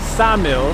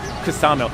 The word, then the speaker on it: Ksamil: You said it's Samil. I said Samil because a lady in Vlora told me that it's Samil. I said Samil. The K is silent. She says no, it's Ksamil.